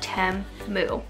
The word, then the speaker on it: Temu: they did um like show me how to pronounce the name so it is Tim moo by the way just for those of you